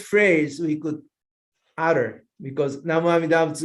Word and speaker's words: Namo Amida Butsu: In this country, Namo Amida Butsu is the easiest phrase we could utter, because Namo Amida Butsu is pronounced as Nammanda, mom and dad, mom and dad.